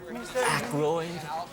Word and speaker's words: Aykroyd: Chevy Chase, Gilda Radner, Dan how the fuck do you pronounce this? Aykroyd.